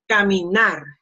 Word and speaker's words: caminar: or S, then, and if you don't see kind of like this, an accent mark, then the pronunciation goes in the last one. That's why I say caminar.